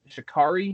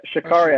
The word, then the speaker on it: Sha'Carri: culturally relevant, is I'm gonna butcher her name, Sha'Carri. Is that how you say it? You got it. Sha'Carri, I believe.